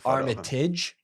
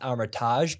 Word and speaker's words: Armitage: what L looks like Armitage not Armitage because pronouncing it that way it gives it more of a Chicago sound and makes the French cringe okay Armitage is we're